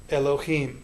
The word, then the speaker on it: Elohim: to the next syllable a good example of that would be Elohim the word for God one of the words for God in the Hebrew Bible a word that you already know the first vowel in that word is this vowel Elohim so it's a rapid pronunciation of that first E-class s sound like we talked about earlier in bed or head or whatever it might be but again about half